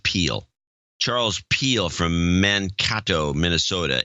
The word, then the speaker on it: Peel: Charles Pell, a.k.a. Sir Uptitious, in Mankato, Minnesota. 260.59. Charles, it's actually pronounced Peel.